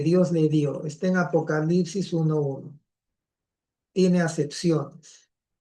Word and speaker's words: apocalipsis: ¿Por qué digo apocalipsis? Porque a veces esta letra, hay cierta escuela que lo pronuncia como I y hay otros que lo pronuncian como U. Vamos a dejarlo como U, ¿ya?